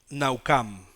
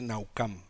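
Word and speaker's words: נחם: se arrepintió la palabra que se utiliza es naucam se pronuncia así aunque se escriban a Sam se dice naucam en la en la estrógenes diccionario strong dice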